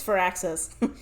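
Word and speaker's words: Firaxis: how to say it, but I think it's Fur Access.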